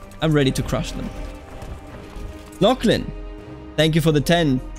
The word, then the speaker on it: Lachlan: lock lock right because in German again it would be Laughlin it left me confusing but Lachlan there we go it's a nice name by the way just for the record just difficult to pronounce for Germans because I think because